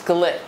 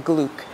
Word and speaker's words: Glück: now that's louise glick but actually she pronounces louise glick rather than gluke and okay so the